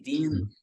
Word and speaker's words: Dean: cinema americano o o nome Dean né que é d e a n dinan né E ela não sabia que era pronúncia eraa din né então ela queria que